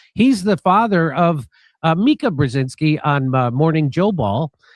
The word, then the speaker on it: Brzezinski: He's the father of Mika Brzezinski on Morning Joe Ball. And big news, I think is how you pronounce it.